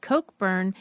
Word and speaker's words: Cockburn: gal in there whose name was pronounced Coke burn but it's spelled cockburn and so it really didn't even matter that it was pronounced yeah Coke burn because I'm sorry if